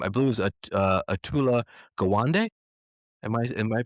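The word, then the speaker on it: Atul Gawande: conference with um, I believe it was, uh, Aula Gawande. Am I am I pronouncing that right? Yeah. Atul Gwande.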